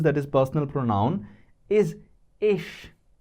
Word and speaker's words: ich: The first one that we use that is personal pronoun is ish I.